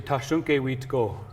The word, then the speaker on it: Tashunke Witko: So in our language, we say Tashunke Witko. Tashunke Wiko.